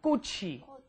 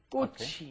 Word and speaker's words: 꽃이: Make sure your pronunciation is 꽃이, right? The chi moves up in front of the e, and that's a hard 기억 on there, right? Try repeating that one. 꽃이. 꽃이.